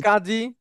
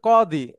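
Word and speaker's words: قاضي: উচ্চারণ ঠিক হবে। আছে, হ্যাঁ, মানে আরবিতে যদি বলি, আমরা বলি না জি জি। কাজী, জি স্যার। এটা হবে কদি।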